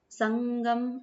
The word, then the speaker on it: संगम: पढ़ रहे हैं तो संग गम न प्रोनाउंस हुआ संगम इस टाइप से तो नाक से एक ध्वनि निकली ठीक है संगम जब